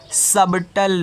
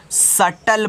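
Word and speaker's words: subtle: है तो इसको आप सबटल नहीं पढ़ोगे तब क्या पढ़ोगे जब सबटल नहीं पढ़ोगे क् 20 तो साइलेंट हो गया तो इसको आपको सिर्फ सटल पढ़ोगे क्या पढ़ोगे सटल बच्चों जैसे मैं आपको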